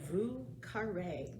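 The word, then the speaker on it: Vieux Carré: new orleans way lucare there's a lot of ways you can pronounce it but since it's in new orleans drink and that's how the new orleans say it new orleans say it the vous carrera which is if you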